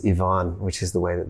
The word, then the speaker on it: Ivan: about it before so in australia we pronounce it ivan which is not nearly as beautiful as yvonne which is the way